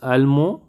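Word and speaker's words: allemand: this male 7 is almo almond here i don't pronounce the d and here i pronounce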